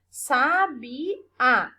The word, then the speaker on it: sabiá: Sabiá. O A eu pronuncio com mais força, né? Então, o A aqui, tá sozinho na sílaba, é a minha sílaba tônica nessa palavra.